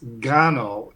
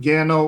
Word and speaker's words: Gano: need to correct myself I did look at the pronunciation it's I think it's Gano not Gano or gaino because I think it's a Catalan name so uh but yeah